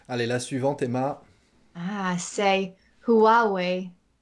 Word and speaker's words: Huawei: est la suivante emma huawei ouais ouais alors il ya une syllabe en plus en anglais en français